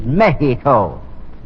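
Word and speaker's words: México: to pronounce it right the correct Spanish pronunciation is Mexico when were you down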